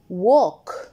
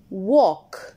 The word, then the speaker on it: walk: Walk. ال مش بتتنطق. Walk.